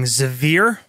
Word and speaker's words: Zavir: I'm playing Zavir. Kept it to two syllables, like Matt.